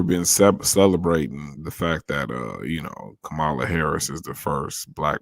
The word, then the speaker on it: Kamala: We'll bring Camila up in a minute. Kamala, nigga, say her name right. This nigga said Camila.